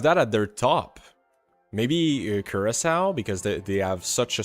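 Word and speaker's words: Curaçao: I need to learn how to pronounce that one. I always say Curacao, and that's not Curacao. Curacao.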